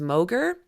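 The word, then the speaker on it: Mauger: And they've got, well, this is Rear Admiral John, I think it's pronounced Moger, and he is the commander of the 1st Coast Guard District.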